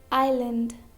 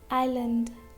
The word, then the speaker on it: island: Letter S is not pronounced before letter L in some of these words like island, island, isle, isle, isle, isle, isle.